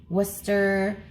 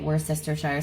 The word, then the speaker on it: Worcestershire: to correctly pronounce this I hear people say Worcester but I feel like that completely neglects an entire syllable so I just say it how I see it were sister Shire saucer that my father-in-law